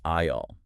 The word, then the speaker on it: aisle: The s is completely, entirely silent. Silent. The word is pronounced aisle.